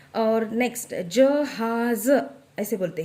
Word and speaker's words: जहाज़: है वो, और नेक्स्ट जहाज़ ऐसे बोलते हैं। तो नेक्स्ट ज को हम नुक्ता लगा देंगे, उससे उसका प्रोनाउंसिएशन ज हो जाएगा।